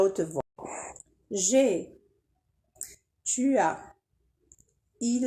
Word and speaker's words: j'ai: Alors, on a supprimé le E pour laisser j'ai.